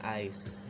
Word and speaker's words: eyes: bisa eyes pak guru eyes bener banget ditulisnya eyes gitu ya tapi dibacanya Ais Ais itu kalau dua